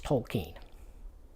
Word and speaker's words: Tolkien: he says states that his name is Tolkien and he writes it out in all caps k-e-e-n in this letter so that's pretty definitive it's Tolkien I you know it still sounds weird to me because I'm used to saying it's Vulcan but it is Tolkien and uh the dragon